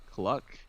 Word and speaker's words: Cluck: Cluck. All right, make sure you pronounce that L, otherwise it becomes something else real quick.